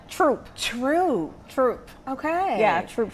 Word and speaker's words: Throop: Through. No. See, I thought you said it was the simple. H is silent. Troop.